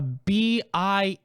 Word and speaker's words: BIS: It's pronounced a BIS list.